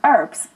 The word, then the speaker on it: herb: But from the 15th century, the H was included in the spelling, but it wasn't pronounced. In British English, for some 400 years, we also called them herbs.